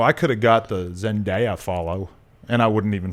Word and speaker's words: Zendaya: So I could have got the Zendaya follow and I wouldn't even fucking know. Did I say it right? Zendaya.